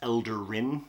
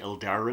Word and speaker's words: Eldarin: Then there was a guy named Rin, and he was an elder from his village, so that's Elder Rin, the Eldarin.